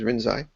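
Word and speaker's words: Rinzai: according to master lyi that's the Chinese way to pronounce rinai the Japanese way is rinai according to master lyi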